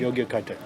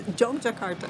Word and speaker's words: Jogjakarta: Yogyakarta. No. Yes, No. that's how it's spelled. No, it's Jogjakarta.